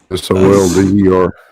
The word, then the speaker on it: solder: SOLDER. Yeah. Okay, right. So why is the L silent? Solder.